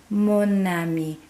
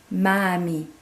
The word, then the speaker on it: mon ami: So they want that mon ami because it flows better than if I was trying to say ma ami.